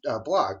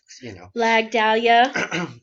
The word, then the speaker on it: Blag Dahlia: You met Blog, but did I say his name right? Blog. Blag Dahlia.